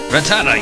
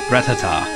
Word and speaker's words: Rattata: Rattata, use tackle! Rattata, that's it. I've pronounced that wrong for years. I've called it Rattata. But it's like Rattata.